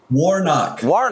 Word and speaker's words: Warnock: Warnock.